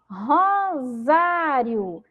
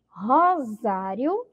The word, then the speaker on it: Rosário: Rosário. Rosário. Também aqui temos a letra C, mas com som de Z.